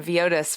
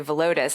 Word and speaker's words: Villodas: Yeah, for people who don't know, I have pronounced last name Villodas for as long as I can remember, and then I started hearing people say Villodas, and he basically said yes, both are true depending on where he is.